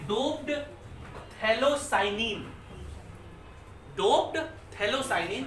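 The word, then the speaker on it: phthalocyanine: Doped थैलोसाइनिन, P silent है उसका।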